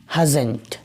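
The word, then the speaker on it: hasn't: Okay, short form जब हम लिखेंगे तो HASN''T, तलफ़ुज़ इसका हो जाएगा हज़ंट, हज़ंट।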